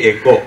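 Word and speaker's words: οἶκος: அந்த OIKOS-ஐ ப்ரொனவுன்ஸ் பண்ணுறது எக்கோ, அவங்க எக்கோன்னு ப்ரொனவுன்ஸ் பண்ணுவாங்க, அதுக்கு அர்த்தம் வீடு.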